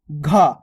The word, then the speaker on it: घ: क्या आता है घ अब दोस्तों इसके उच्चारण में देखो थोड़ा जोर लग रहा है घ यानी कि ध्वनि थोड़ी चेंज हो रही है ग की तरह उच्चारण हो रहा है लेकिन घ यानी कि थोड़ी धवनी मेंगा उच्चारण में फरक रहा है घ यानी कि घंटा